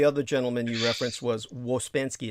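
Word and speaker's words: Ouspensky: gentleman you referenced was waspansky it's pronounced like uh wuzbanski um there may be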